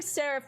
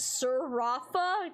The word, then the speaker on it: Sarif: Uh, bro was playing Sarif, which I initially pronounced as Sarafa.